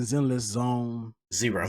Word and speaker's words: Zenless Zone Zero: That is gonna be, they're developing Zenless Zone Zero. Zenless Zone. Wait, Zero. I'm pronouncing it wrong.